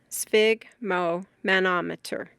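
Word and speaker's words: sphygmomanometer: Spig, which rhymes with fig, relates to blood. broken into its parts. It is spig mo manometer.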